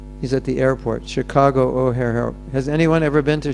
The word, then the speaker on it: O'Hare: He's at the airport, Chicago O'Hare. Has anyone ever been to Chicago O'Hare Airport? O'Hare, it's spelled O-H-A, comma, O-H-A-R-E.